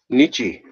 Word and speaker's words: Nietzsche: you I appreciate that Nietzsche so that's how you pronounce the Z sche so do you Nietzsche